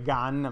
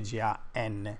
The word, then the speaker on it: GaN: si dice Si ok E non si dice Gun Ma si dice g n Ok Tanto dicon tutti